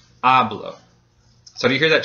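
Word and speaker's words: hablo: syllable gets stressed now it ends in a vowel so the second to last syllable gets stressed which in this case is the first syllable ablo so do you hear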